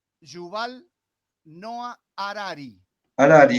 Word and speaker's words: Harari: Hariri, ¿no? Era el apellido, no me acuerdo la pronunciación. Yuval Noah Harari. Harari, está bien, sí, igual que el psicólogo argentino.